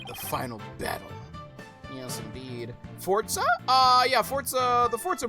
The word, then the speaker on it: Forza: a yes it's just the Z has like a z sound to it so it's for Forza yeah Forza Forza Horizon